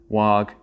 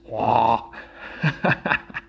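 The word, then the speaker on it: Waugh: This dualistic nature of memory was proposed by the early investigators of memory, such as William James, Wag, and Norman. The W is silent. The GH is silent. Wah.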